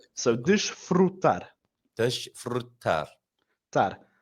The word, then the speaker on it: desfrutar: So desfrutar. Desfrutar. Tar. And then our last syllable here, tar, we're getting a bit of a harder, more pressed A.